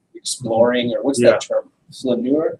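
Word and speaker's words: flâneur: Flaneur? How do you pronounce that in Francais? I spell it for you. You can spell it and then I'll pronounce it. Flaneur. Flaneur.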